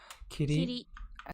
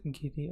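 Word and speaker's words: 切り: Kiri, and a finish, place, to stop, bound, limit, and delivery date, final performance, trump card, king, counter for slices, counter for. Okay, this one sometimes pronounced giri.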